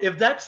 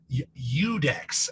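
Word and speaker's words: Iudex: that was great finally we have um if dex am i pronouncing that correctly udex actually how is that nice you you dex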